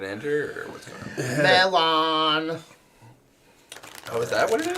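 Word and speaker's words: Mellon: Melon. Oh, is that what it is? What? Bellon? Melon. Melon? Yes, it's pronounced melon, but it's literally just melon. Oh, because I don't have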